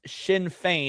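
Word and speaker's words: Sinn Féin: If we click, search, and it's pronounced Shinfane, and it's an Irish political party with a lot of history.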